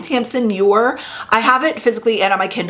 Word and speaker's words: Tamsin Muir: Gideon the Ninth by Tamsin Muir, I think is how you pronounce her name, Tamsin Muir.